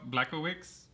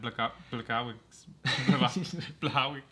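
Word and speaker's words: Błachowicz: It says it's spelled Blachowicz, but yeah, it's like Blachowicz or yeah, Blachowicz. Yeah, something like that. Since he's Polish, it's pronounced differently.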